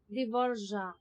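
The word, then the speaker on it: Dvořák: Hindi J sound. Parang Z. Dvorak.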